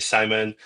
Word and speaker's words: Shimon: the intro and yeah, my name is Shimon, but it's quite difficult to pronounce for a lot of people. Whenever I get on calls, everyone's like, "What? How do I pronounce that?" So, but yeah, it's Shimon, you can say Simon.